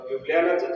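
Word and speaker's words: Ljubljana: युगल म्हणून आहे तर ह्या स्लाविक कंट्री मध्ये जे लिहिल जात तर त्याच प्रोनन्सशन य केल जात त्यामुळ युबनाच जे स्पेलिंग आहे ते एल जे य बी जे ए ए अस युबना त्यामुळे आम्हाला ते आपल्याला जर माहित नसेल की ज म्हणजे य तर आम्ही ते प्रोनाऊन्सच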